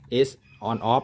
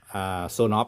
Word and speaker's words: Sonoff: ส่วน of นะ ครับ แรก ผม ก็ อ่าน ว่า S of นะ ครับ แต่ ว่า Zone of นะ ครับ อัน นี้